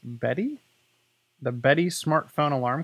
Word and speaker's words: Beddi: it's pronounced Betty the Betty smart phone